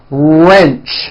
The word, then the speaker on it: wrench: Detach, teach, porch, march, patch, wrench. Notice the strong R sound at the beginning of that word.